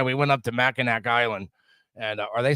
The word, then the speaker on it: Mackinac: And we took our trip, like I said, we went up to Mackinac Island, and or they say Mackinac, but it's spelled Mackinac, so I'm gonna call it anything I see it.